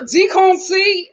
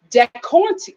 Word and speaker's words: Decornti: So thank you, Deconci. Okay, Deconci is correcting me. My name is pronounced Decornti.